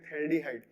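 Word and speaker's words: phthaldehyde: थैल्डिहाइड, दो CHO benzene ring के 1 और 2 पोजीशन पे जुड़े हो तो इसको बोलते हैं थैल्डिहाइड। PTHAL, P साइलेंट होता है, थैल्डिहाइड।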